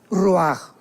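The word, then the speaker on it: רוח: parte espiritual que es la palabra roach, que se pronuncia roaj.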